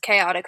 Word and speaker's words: Chaotique: instagram handles chaotic photo people uh honestly they get that mispronounced quite frequently but it's it's just chaotic photo um i want to